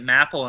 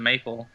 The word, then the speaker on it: Mapal: when I met you I pronounced it mle instead of maple it's actually now yeah